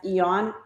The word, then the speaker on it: Aeon: And we are promoting Lifewave patches this week, the Aeon, which is Aeon, pronounced Aeon, and it's considered the happy patch.